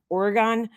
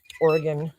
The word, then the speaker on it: Oregon: sounds weird to me Oregon Oregon we say Oregon here like when we were kids we used to play that game Oregon Trail that's how you say it here Oregon sounds weird and